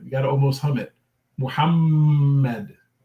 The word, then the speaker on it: Muhammad: remind everyone to say muhammad okay the h sound is has a lot of breath to it and it comes from here comes from the middle of the throat down like the adam's apple